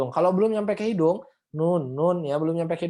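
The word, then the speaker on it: نون: Jadi kalau misalkan ditanya ini huruf apa, jangan jawab ini huruf na, tapi ini huruf nun gitu. Makanya ketika teman-teman nanti membaca surat Al-Qalam, jangan dibacanya na gitu ya, jangan. Tapi nun gitu.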